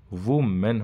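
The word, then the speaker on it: woman: ना दोज अब्यूड़ोस ब डब्लू ओ एम जो ए एन होता है सिंगल के लिए जो आता है वो वूमन होता है वुमन बोला जाएगा उसको ठीक है वुमन ओके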